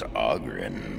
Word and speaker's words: Oghren: The name's Oghren, by the way. But the ladies pronounce it Oghren.